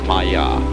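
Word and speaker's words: माया: I'm going to write that down for you pronounced Maya and this word comes from a route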